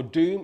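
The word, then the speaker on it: dum: a car okay so our doom is spelled d oh um and our tech is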